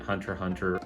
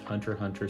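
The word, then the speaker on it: Hunter × Hunter: Yes, I do pronounce it without the X. There has been a lot of discussion about that this past week, but I pronounce it Hunter x Hunter.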